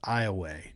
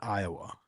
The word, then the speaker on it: Iowa: Only in Louisiana is it pronounced Iway, not Iowa.